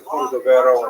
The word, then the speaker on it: Cordovero: his Matseba, his gravestone, it's Cordoero. It's a Portuguese spelling, but it's kind of a strange thing to pronounce in Hebrew, so it was sort of mangled into Cordovero, and that has become the standard, even though it's probably not correct.